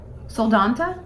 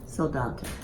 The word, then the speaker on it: Soldotna: So Mom got a couple tips on how to pronounce things. I don't know that it helped any. You don't think you already forgot? Soldotna? Soldotna.